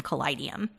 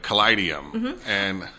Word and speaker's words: Kaleidium: And I said, so think about it as a kaleidoscope. How would you say kaleidoscope? And then just add the ium at the end of Kaleidium.